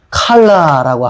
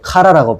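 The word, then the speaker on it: כלה: 칼라라고 하는 말인데 카라라고 발음하기도 해요.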